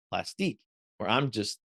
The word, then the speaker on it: Plastiq: a a Wrong luning conversation about plastic versus plastique which is the this company that you could use their service to pay with a credit card but it's spelled p l a s t IQ and so pay loves to get very French about it and call it plastic or I'm just saying